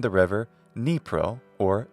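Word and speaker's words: Dnipro: the globe most English speakers name the river nepro or denipro from Ukrainian there's also a city called the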